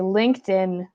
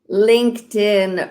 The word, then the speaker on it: LinkedIn: LinkedIn. Oui, attends, prononce-le encore, s'il te plaît. LinkedIn. LinkedIn. Puis là, moi, je sais que le ED, après un K, fait le son T. Fait que ça fait LinkedIn.